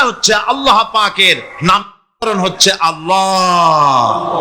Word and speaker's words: আল্লাহ: আল্লাহ পাকের নাম হচ্ছে আল্লাহ মুখটা একটু গোল হয়ে যাবে বলেন আল্লাহ আল্লাহ